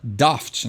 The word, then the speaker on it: daft: bem britânica aí então tu não fala déficit tu fala daft né então tu fecha o ar aí pra pronunciar melhor e dá esse tom britânico na pronúncia né antes da e